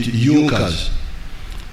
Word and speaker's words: Junkers: It is written Junkers, but they pronounce it Junkers, that saw the importance of a united German market.